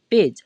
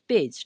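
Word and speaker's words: page: ज बनाएंगे ठीक है तो इसे हम क्या पढ़ेंगे पेज और लास्ट वाला ई आपको पता है वो क्या रहेगा साइलेंट रहेगा ठीक है तो इसे हम क्या पढ़े पेज ठीक है तो पेज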